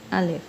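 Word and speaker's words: الف: one first one of the Urdu alphabet is alif friends I am writing is English spelling so you can learn its pronunciation clearly a first alphabet of the Urdu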